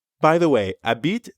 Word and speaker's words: habite: say by the way a beat technically starts with an h but since the french h is silent we treat it like a vowel a bit that's right and then